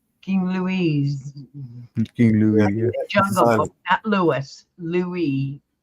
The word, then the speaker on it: Louis: you're right yeah King Lewis not Lewis Lewis Lou Lou yeah King Lou King Louise King Lou Louis Louie the S is silent Louie yes like camella's